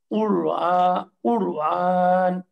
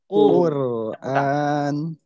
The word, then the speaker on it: কুরআন: সঙ্গে এই হরকতটা না হামজার সঙ্গেই আরেকবার বলেন উচ্চারণ হবে হচ্ছে কুরআন আমি পাতলা এবং মোটা করে শোনাচ্ছি একটা হচ্ছে কুর কুর কুর কুর কুর কুর কুর কুর কুর কুর কুর কুরআন হ্যাঁ এই সমস্ত হরফে মোটা করার একটা কমন